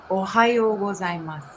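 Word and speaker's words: おはようございます: so can you for the audience can you pronounce it again how you say good morning ohayo gozaimasu okay ohio gozaimasu is that close okay nice nice excellent excellent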